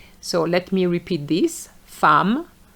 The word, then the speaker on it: femme: enough des œufs un os des os neuf neuf ans So now some irregular pronunciation femme and not femme femme which is a woman seconde So the